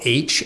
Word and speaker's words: Haidt: John Haidt, spelt the way you think it's spelt, the Canadian version of height? No, Haidt.